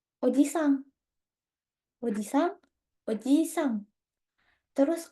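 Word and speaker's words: おじさん: Tapi kalau paman, nggak ada I-nya. Oji, Sang.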